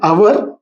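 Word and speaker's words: hour: అంటే కొన్ని పేర్లు ఆంగ్ల హల్లుతో మొదలవుతాయి, నో ప్రాబ్లం, హల్లుతో స్టార్ట్ అవుతున్నాయి, బట్ వాటి ఉచ్చారణ మాత్రం అచ్చులతో మొదలవుతుంది. ఇక్కడ ఎగ్జాంపుల్ చూస్తే ఇంకా మీకు క్లియర్ అవుతుంది. అన్ honest person, ఎన్ అవర్ ఇక్కడ హెచ్ ఉంది, ఇంగ్లీష్ వాళ్ళు దీనికి కాన్సనెంట్ అంటారు.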